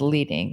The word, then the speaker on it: leading: two lines of text is known as leading, which rhymes with heading or heating, reading, leading, reading.